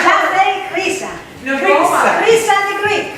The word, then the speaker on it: Χρύσα: How you pronounce it? Sorry. Go ahead. I don't know. Χρύσα. Oh, Krisa. Yes. Krisa. Χρύσα. Krisa.